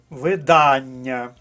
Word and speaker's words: видання: падає наголос у слові перше слово має наголос на другому складі видання наступне слово варто запам'ятати